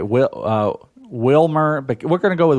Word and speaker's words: Wilmer: Is it Wilmer or Wilmer? Or? I think you said it right. Wilmer.